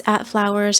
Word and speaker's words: FVLWRS: It's @flowers. It's spelled FVLWRS. I know it's spelled weird.